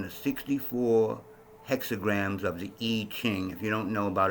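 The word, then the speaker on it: I Ching: is based on the 64 hexagrams of the E King if you don't know about it look it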